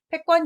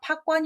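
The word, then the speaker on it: 覇權: 짜이 구요 상당히 어렵습니다 밥은 패권 입니다 판권 이라고 하시면 안됩니다 그래서 패자 어떤 승자의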